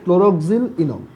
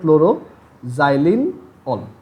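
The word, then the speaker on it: chloroxylenol: মানে এটাকে অনেকভাবে বলে, ক্লোরোক্সিল ইনল, ক্লোরোক্সিল ইনল মানে একই জিনিস, মানে জাস্ট উচ্চারণটা আলাদা। ক্লোরোক্সিল ইনল, অনেকে ক্লোরোক্সিল ইনলও বলে, বাট সবচেয়ে ভালো তুমি যদি বলো ক্লোরোজাইলিন অল, মানে ওইটা শুনেই বোঝা যায় কি কি আছে আর কি।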